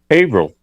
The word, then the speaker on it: Haverhill: And how do you pronounce Haverhill? Haverhill.